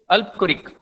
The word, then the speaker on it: Albuquerque: Alphonso de अल्बुकर्क. ठीक है, या अल्फांसो डी अल्बुकर्क, ऐसा भी आप इसको प्रोनाउंस कर सकते हो.